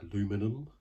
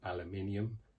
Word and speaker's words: aluminium: pro versions with that aluminum as you americans say or aluminium as that's english say uh brits say would look very nice